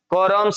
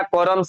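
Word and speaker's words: corms: कोरम्स लिखा हुआ है। ध्यान दीजिएगा कोरम्स नहीं कॉर्म्स होता है। सी ओ आर एम एस।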